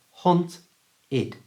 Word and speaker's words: haunted: not very clear hunts so we use our last option which is ID remember not add we never say add it's ID so this word becomes haunted haunted you try haunted and